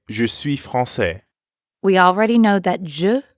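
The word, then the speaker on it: française: so as a woman I wouldn't actually say francaise right because false is masculine instead I'd says Francis notice the change in the pronunciation says but I'm a man so I'd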